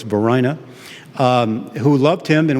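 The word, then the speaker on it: Varina: to hear of it uh his wife uh Verina I'm told is the right pronunciation I had thought it was Vina but I just learned an hour ago it's Verina um who loved him and was very supportive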